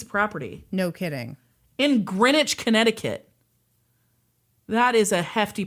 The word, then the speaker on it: Greenwich: In Greenwich, Connecticut. That is a hefty price tag, you know. Pronounced Greenwich. It is not pronounced Greenwich.